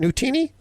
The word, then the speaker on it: Nutini: Is it Nutini? You are pronouncing it perfectly.